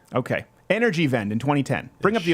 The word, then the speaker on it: Energiewende: So Germany started a program in 2010 called, I don't know how to pronounce this properly, Energiewende? Energiewende? Vend. Vend? W is a V. Okay. Energiewende in 2010.